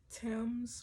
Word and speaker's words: Thames: is the the thames you don't pronounce the h in tim's river the river okay